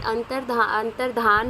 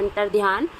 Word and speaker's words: अंतर्धान: तो इसमें अंतर्धान है वो आपकी सही स्पेलिंग हो जाएगी। वैसे हम जनरली अपने वर्ड्स में बोलते हैं अंतर्ध्यान, लेकिन अंतर्धान इसकी सही स्पेलिंग हो जाएगी।